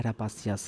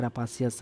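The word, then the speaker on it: rapacious: मतलब आप क्या है, रापासियस हैं। साथियों देखिए, प्रोनाउंसिएशन ऐसे करिए जिससे कि आपको वो स्पेलिंग में भी काम आ सके। तो जो रूपा रूपा करते रहता है तो वो कैसा है, रापासियस है, मतलब कि वो लालची व्यक्ति है।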